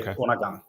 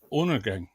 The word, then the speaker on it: Undergang: But if you want to say it in Danish, then the D in the first part is more like an extra N. So we say Undergang. Oh, okay. Undergang.